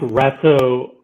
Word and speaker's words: Ratso: I think Ratso rhymes with Fatso.